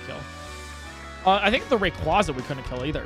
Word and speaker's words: Rayquaza: we go to misy let's figure out how it's pronounced Rayquaza r quases Rayquaza it is there you go TTS